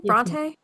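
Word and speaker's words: Brontë: Bronte. Bronte. Is that how you say her name? Bronte.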